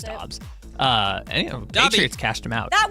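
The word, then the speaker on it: Doubs: I do this because his name is spelled Dubes, but he wants to pronounce it Dobbs, but it's wrong.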